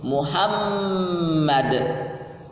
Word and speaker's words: Muhammad: Di situ ada penekanan dengan harokat, dengan tanda tasydid di atas mim. Muhammad.